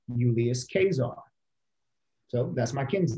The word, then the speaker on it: Caesar: actually you can make a case that we're pronouncing julius caesar wrong case phonetically that his name is pronounced julius casar so that's my kid's name euless um and